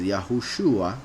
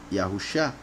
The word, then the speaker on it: Yahushua: for another moment, but Shin, Ayin can also be pronounced Shah. That's why a lot of people pronounce Elisha. There are some people who even pronounce Yahusha. However, there's enough proof in scriptures to show that the name of the Messiah is Yahushua, not Yahusha.